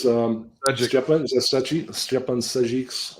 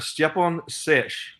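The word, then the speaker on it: Stjepan Šejić: And there's Stepan Sajic's cover, which is awesome.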